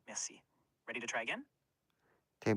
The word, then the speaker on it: merci: Merci sounds like merci, where mer rhymes with bear. C is just like the English word see.